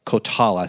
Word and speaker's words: Coltala: I want to make sure I'm pronouncing that right. It's Coltala, Coltala Holdings, which is a private equity firm headquartered in Fort Worth.